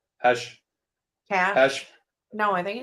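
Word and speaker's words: Kash: one with um or I think it's actually pronounced hash Cash Cash no I think it's cash he always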